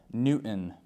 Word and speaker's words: Newton: name we have Newton this one can be tricky uh you can imagine trying to say it n t i n Newton thank you very much